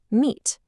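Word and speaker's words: meat: Look at M-E-A-T. 2 vowels, E and A. The first one, E, says its name. The A is silent. M-E-T, meet.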